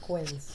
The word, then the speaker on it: quince: Pronounced quins.